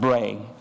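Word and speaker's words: brae: familiar with that word it's pronounced bray and it's a Scottish word meaning hills why he didn't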